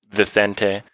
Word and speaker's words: Vicente: His actual pronunciation is Vicente.